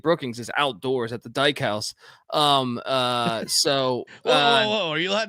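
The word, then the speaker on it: Dykhouse: It's not the Dyke House. They call it the Dyke House. You go to the Dyke House. Yeah. All right. Yeah. DYK House. I don't know how else you would pronounce it.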